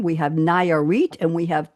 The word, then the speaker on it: Nayarit: I'm still trying to pronounce the three states. We have Guanajuato, we have Michoacan, we have Nayarit, and we have Tamaulipas.